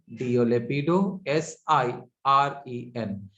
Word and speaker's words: Lepidosiren: Another example is Lepidosirene, Lepido, Lepido, Sirene, Lepidosirene.